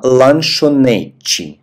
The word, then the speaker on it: lanchonete: «А ланшонечи». На конце «т» у нас произносится как «чи».